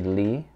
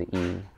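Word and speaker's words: 이: one II my name my last name is e by the way in English they say Li because we spell like this but actually the pronunciation is e I don't know how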